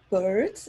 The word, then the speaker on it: Beard: And that's Beard. That's how pronounced. Because it's beard, like facial hair.